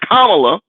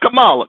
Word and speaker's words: Kamala: what sister kamla har let's pronounce her name is kamla not Kamala kamla Harris Howard University